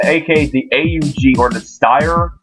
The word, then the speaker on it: Steyr: The Army Rifle, aka the AUG, or the Steyr, I think it's spelled S-T-E-Y-R. It's Steyr AUG, or the Steyr Aug.